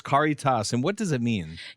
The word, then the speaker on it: Caritas: I've been mispronouncing. I think I called it Caritas before, but it's Caritas.